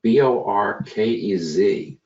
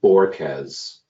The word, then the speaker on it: Bohorquez: have my friend Borquez, and that's pronounced Borkez. Don't be mistaken by the H or the U, as I've done in the past. It's a straight Borquez, which of course raises